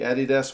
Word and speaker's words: Adidas: They had the Adidas ones, which is the way we pronounce that in New Zealand, by the way.